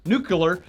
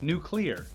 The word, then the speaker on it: nuclear: w bush's pronunciation of the word nucular has also ruined me its nuclear right yes alright now before